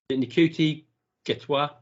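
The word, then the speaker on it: Ncuti Gatwa: I think the actual event happened, and it got announced that we're going to pronounce his name right because I don't want to get it wrong. Nikuti Getwa, who's Rwandan, and yes, he's going to be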